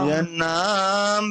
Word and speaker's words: यन्नाम: आपन्ना संस्थितिं घोरा आपन्नः संसृतिं घोरा यन्नाम विवशो गृह्णन् थोड़ा सा सद्यो विमुच्य उच्चारण में मिस्टेक है। देखिए, नाम के बाद हलंत नहीं प्रभु जी। यन नाम, थोड़ा से बोलिए।